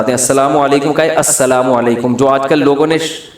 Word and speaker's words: السلام علیکم: میرے بھائی کا السلام علیکم اور صلی اللہ علیہ وسلم کا صحیح تلفظ بتا دیں. السلام علیکم کا ہے السلام علیکم, جو آج کل لوگوں نے ساشے پیش کر رہے ہیں, سلام السلام ایسے سلام ہو رہا ہے السلام.